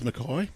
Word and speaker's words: McKay: And it is McKay. It's not a McKay.